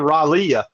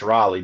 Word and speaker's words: Raleigh: he said, "I've been to Charlotte twice and Raleia." And Sharp's like, "Raley?" He's like, "No, Raley." He's like, "No, it's Raleigh, dude."